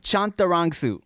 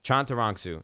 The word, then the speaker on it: Chantarangsu: Give me the pronunciation one more time. Chantarangsu. Chantarangsu.